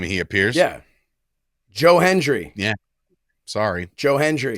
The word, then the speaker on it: Joe Hendry: but I'm just wondering um if I say Joe Henry is he now legally obligated to be guest on our show uh just because you say his name and he appears yeah Joe Hendry yeah sorry Joe Hendry it's like Beetle just